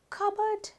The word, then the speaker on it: cupboard: cupboard කියනකොට ප sound එක පැහැදිලිව ඇහෙන්නේ නැහැ. cupboard ප sound එක ඇහෙන්නේ නැහැ.